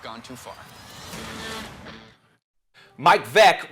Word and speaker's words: Veeck: Mike Vick rhymes with rec.